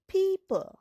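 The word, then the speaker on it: people: যেমন পি ও পি এলই পিপল। পিপলে দেখ ওটা কিন্তু লুকিয়ে পড়ছে বা সাইলেন্ট হয়ে যাচ্ছে।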